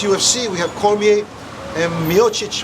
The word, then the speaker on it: Miocic: Like this fight that's coming up, the fight with, we have next UFC, we have Cormier and Miocic. How do you say his name? Miocic? Miocic? Yeah, Miocic.